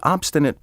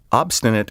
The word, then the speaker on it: obstinate: The obstinate person stubbornly adheres to a purpose or opinion, often regardless of the consequences. Obstinate is sometimes mispronounced obstinate, as if it were spelled O-B-S, Take care to spell and pronounce this word correctly.